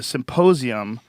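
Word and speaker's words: Psymposium: and the um the Symposium is spelled Sim like as in psychedelic Psy Symposium 2014 it is April 12th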